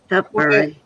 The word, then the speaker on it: Tutbury: Tutbury Castle, am I saying it right? Tutbury. Tutbury. It's Tutbury. Tutbury.